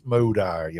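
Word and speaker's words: Mowday: You can correct me on the pronunciation of his surname, Bruce Moday or Moday. Yeah, Bruce Maude is a very interesting guy.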